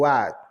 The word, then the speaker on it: what: Então o que o what o w com o som de u o h é mudo o a com o